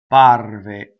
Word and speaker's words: apparve: So let's go through step by step on how to do double P. You do not do 2 P's. You do a long A vowel, right? A. And then you stop phonation and you go up to the P and you don't say it. A. Apparve.